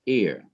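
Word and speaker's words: עיר: which has no pronunciation it consists of the vowel i sound e like in machine and it ends with a consonant rish pronounced ear so you have consonant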